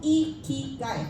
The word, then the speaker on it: Ikigai: Let me introduce you to this tool called Ikigai. That's how you pronounce it.